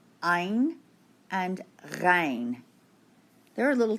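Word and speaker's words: عين: On page 13, we're going to write the letters ein and rein. They're a little tough to pronounce. Ein and rein. Let's begin with the letter ein. It's way back in the back of the throat.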